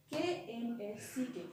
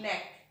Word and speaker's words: knack: K-N-A-C-K. When we pronounce this word, we will omit this K. Okay, knack. K-N-A-C-K, knack.